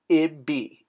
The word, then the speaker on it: ibi: It's going to be pronounced ibi, I-B-I, or Y-B-I-Y.